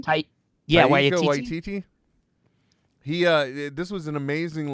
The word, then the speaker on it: Taika Waititi: I don't know how to pronounce his name. Trent, do you? Taika Waititi. Taika Waititi.